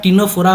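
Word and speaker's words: Ctenophora: और ए सिलोमेट और एग्जाम्पल कौन सा हो जाएगा, टीनोफोरा, यहाँ पे फिर सी साइलेंट होता है, यहाँ फिर क्या टी साइलेंट है, यहाँ टीनोफोरा बोला जाता है।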